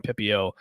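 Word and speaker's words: Pepiot: They got Ryan Pepio and did I say his last name right, Drew? It's Pepio, right? Pepio, that's right. Pepio. I was like, man, remember to say Pepio.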